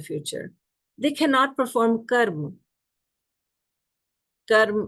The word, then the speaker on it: karma: Karma, or some people call it karma, in the Western pronunciation would be karma. So I will just go with the authentic pronunciation, karma.